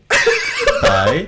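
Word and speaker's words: phở: You want to know the real accent of pho? Go on. Pho. Say again. Pho. Pho.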